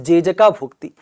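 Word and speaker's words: Jejakabhukti: So Jai Shakti's, right, specific pronunciation in the Gond language, in the Gond tribe language is Jejaka Bhukti, and that was the capital of Chandelas also.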